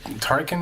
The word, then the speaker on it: Turrican: I'm not sure that is it Turrican. It's pronounced.